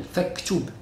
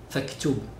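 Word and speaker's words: فَاكْتُبْ: But when Hamzatu waslin comes in the middle, it's not pronounced. Example, faktub. You see faktub, we don't pronounce, we don't say faktub, faktub, faktub. We pronounce al-fa, then al-kaf.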